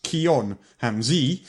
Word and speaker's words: Kian Hamzai: Before you pronounce it wrong, it's Kion Hamzi."